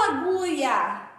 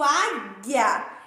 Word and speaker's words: águia: nas duas palavras água águia eu não falo allouia eu digo águia então ela é crime pronunciada nas duas palavras não é uma veja